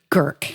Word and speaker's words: Gercke: We've got uh Gerke. Am I pronouncing that right? Kirk. Kirk.